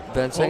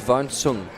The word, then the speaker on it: Van Sang: Van Sang is pronounced Van Sung.